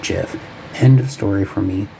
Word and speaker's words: GIF: oh come on there we go a gif and it is a hard G is a